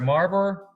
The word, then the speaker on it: Maribor: I have a special guest today who is from Maribor, I'm saying this right, Maribor, Slovenia.